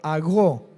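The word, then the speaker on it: ἄγω: La palabra guiado en el griego, con un acento en la O, agó, A-G-O.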